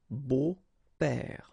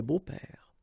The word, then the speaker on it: beaux-pères: Des beaux-pères. Okay, remember the S, but then it's silent. Des beaux-pères.